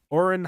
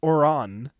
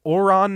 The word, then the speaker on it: Ouran: it was somebody saying, "Bro pronounced it Ouran instead of Ouron." So, I'm going to make sure I say this right. right, idiot. Okay, we'll be continuing our watch party of Ouron High School Host Club, the anime.